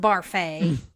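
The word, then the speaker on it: Barfée: It's pronounced Barfay.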